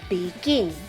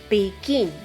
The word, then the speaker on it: begin: how about the word begin begin which syllable is stressed the second syllable is